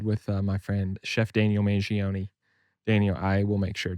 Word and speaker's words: Mangione: that I know that I do pronounce the e at the end.